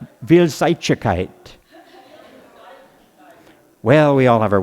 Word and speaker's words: Vielseitigkeit: You tell me if I'm pronouncing this right. Vielseitigkeit. Vielseitigkeit. Vielseitigkeit.